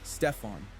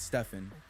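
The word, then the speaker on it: Stephen: A Nike executive mispronounced his name. Stefan, not Stefan.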